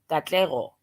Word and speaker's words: Katlego: like cat let go, but it's Katlego.